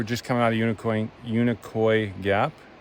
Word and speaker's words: Unicoi: coming out of unicorn Unicoi Gap not unicorn a lot of people pronounce it unicorn yeah yeah it was